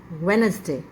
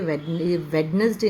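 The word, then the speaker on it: Wednesday: यहां पर आपका जो है साइलेंट है डी की प्रोनंसिएशन नहीं होगी यहां पर सो the word is वेनसडे वेनसडे okay तो जब भी आप बोलेंगे वेडनेसडे नहीं है इट्स वेनसडे ठीक है तो यही आपकी सही प्रोनंसिएशन है वेनसडे okay it's नॉट वेडनेसडे वेनसडे next भी काफी कॉमन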